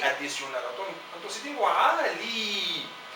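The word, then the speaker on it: علي: En el Líbano lo llaman Ali, pero la palabra original es Ali y tiene un alargamiento aquí al nivel de la segunda sílaba con la Lam como consonante, con una vocal I, y la Y es una I adicional y se lee con alargamiento Ali.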